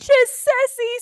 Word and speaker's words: Chisesi: say it right did I say it right chessi chessi you got it chessi score for me okay rock cool so tell